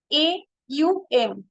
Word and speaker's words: Aum: but vast in meaning only two letter O M actual pronunciation is a u m so only three letter